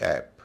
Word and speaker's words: app: जैसे APP ऐप या BAT बैट। ऐप में ए शुरू में है, बाद में PP है, कॉन्सोनेंट है, उच्चारण हो रहा है ए। इसे एप नहीं कहेंगे, ऐप कहेंगे।